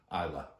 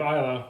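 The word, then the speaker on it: Islay: of them except for Isa am I saying it right yes you have Isa which is a wonderful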